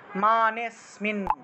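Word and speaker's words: মানেঽস্মিন: মানে গিয়ে একটু টান দিবেন, মানেস্মিন মানেস্মিন, এইভাবে মানেতে গিয়ে একটু টান দিলেই আসলে এই যে অস্মিন উচ্চারণটা চলে আসবে।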